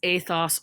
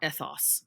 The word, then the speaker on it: ethos: about is ethos or ethos and this is how you'd write it in greek and the reason why there's two pronunciations is it depends on what period of ancient greece are we talking about the the one that